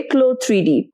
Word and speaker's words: CLO 3D: আচ্ছা, একটা কথা, ক্লোর প্রথম দুটো ভিডিওতে আমি ক্লোকে ক্লো উচ্চারণ না করে CLO উচ্চারণ করেছি। আসলে এই CLO প্রোনাউন্সিয়েশনটা সঠিক নয়। এর সঠিক উচ্চারণ হচ্ছে ক্লো 3D।